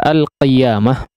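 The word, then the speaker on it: القيامة: Nah, kemudian di huruf qaf pada kata al-qiyamah, ya, sebagian orang ya cenderung agak abai ya untuk mengucapkan huruf qaf ketika berharakat kasrah. Ya, agak lari sedikit kepada huruf kaf ya, maka di sini coba diperhatikan.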